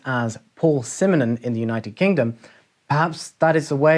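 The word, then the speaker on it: Paul Simonon: simmonen the basis from the clash since it's pronounced as paul simonen in the united kingdom perhaps that is the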